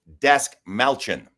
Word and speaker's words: Dastmalchian: David, I have to pronounce this right. Dastmalchian.